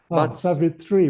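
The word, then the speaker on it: Sāvitrī: Savvitri with a long I Yes.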